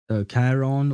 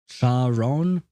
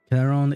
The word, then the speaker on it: Charon: Isn't it Charon? I believe it's supposed to be the ch is supposed to be pronounced k, like a k sound, because that's the name of the dude who drives the boat on the Styx and leads the dead to the land of the dead or something.